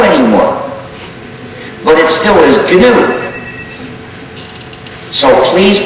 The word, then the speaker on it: GNU: it's not new anymore but it still is canoe so please pronounce it good you must avoid pronouncing it new and you should also avoid pronouncing it Linux